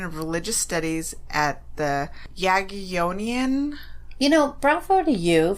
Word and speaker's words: Jagiellonian: Well, I actually looked this word up. Okay. Jagiellonian. Jagiellonian. Okay, I'm pretty sure that's how you pronounce it.